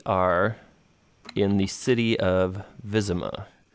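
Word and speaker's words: Wyzima: in the city of vism ah now it's in the map it's spelled w y zi ma and that's from the Polish word for the city so vism a is actually the english translation but but this is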